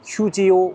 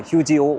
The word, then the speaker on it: 휴지오: 오피스텔 이름이 휴지오 오피스텔입니다. 발음 잘해야 돼요. 휴지 오피스텔이 아니라 휴지오 오피스텔.